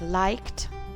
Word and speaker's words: liked: That's why we have liked, cooked, danced. Just try to say d at the end after these. When you say liked, it's very difficult. So that's why we naturally pronounce it as t.